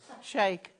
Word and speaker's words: Sheikh: See, if you have like the Sheik of Arabia... Shake. Is it a shake? Yeah. But you spell it S-H-I-E-I-K.